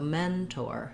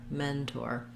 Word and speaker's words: mentor: Here you still need to keep that or, but it's going to be shorter than the men. So mentor, mentor.